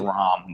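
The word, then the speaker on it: Raam: It's pronounced Ram, Negro. Ram Shadow, whatever. I always thought Ram.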